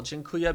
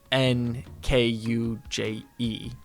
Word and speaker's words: Dziękuję: Yeah, I remember the first time I saw how you spell Dziękuję because my grandparents would say it when I was growing up, and I just thought it was like an N. So I thought it was like Dzienkuje, but no, Dziękuję.